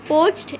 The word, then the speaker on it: poached: See next one, poached egg means egg যে পোচ করে খাই আমরা ওটা। So what will be the pronunciation of this word? Poached. Poached. A, this letter will be kept silent.